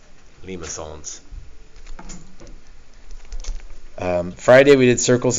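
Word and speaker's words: limaçon: so cardioids and remember that's not Lima cons it's Lima songs pronounce it all fancy Lima songs um Friday we did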